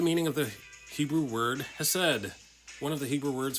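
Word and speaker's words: chesed: of the Hebrew word has said one of the Hebrew words for Love Is hased uh that's how you spell it in Hebrew and pronounced has said which is actually a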